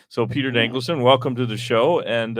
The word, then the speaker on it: Dankelson: saying people's names wrong yeah it's a than danelon okay that pretty much what it looked like so Peter danelon welcome to the show and uh I don't